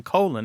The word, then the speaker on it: Colin: he actually talked to people whose names are c o l i n who pronounced them colon and said what up